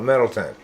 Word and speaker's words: Middletown: an old town huh it's spelled middletown but we call it middleton believe it or [